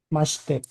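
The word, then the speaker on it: まして: Sens eh Armando Masite dibaca maste.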